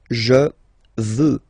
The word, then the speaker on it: veux: Vouloir, first person, je veux. Final X not pronounced.